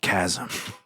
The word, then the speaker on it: chasm: We all say it chasm. Yep, it's chasm. I'm just wrong.